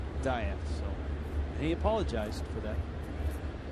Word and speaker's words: Diaz: nights like this that we're mispronouncing his name and it should be diaz his family as he explained in that tape that was while he was with the pirates early last year has always pronounced it diet so he apologized for